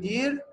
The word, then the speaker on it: dit: To change verb dir to what? To participe to di not di don't say t t is silent okay.